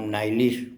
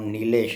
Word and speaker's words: नीलेश: जैसे गॉल्डन मेरा नाम नाइलिश प्रोनाउंस करता था, मेरा नाम नीलेश है, तो बड़ा ड्रामा कर दिया था मैंने कि Cambridge guy कैन not pronounce my name properly.